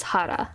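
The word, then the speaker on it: 原: know how to say English words when it's pronounced as Hara and then there's shop which means uh Association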